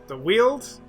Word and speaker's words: Weald: Pacific, we're going to go ahead and launch into the Weald, is how I'm told that's pronounced.